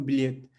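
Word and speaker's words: bolo: तो बे ओ से बो, और चूंकि शब्द जो है ओ पे खत्म हो रहा तो ये क्या हो जाएगा, ऊ पे खत्म होगा तो बोलू, और बोलू का मतलब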